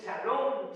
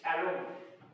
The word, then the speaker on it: Shalom: Se escribe una s, una h. Una S, una H, una A, una L, una O y una M. Shalom. Porque parece que fuera con ch, con cí cha, pero es sa salón,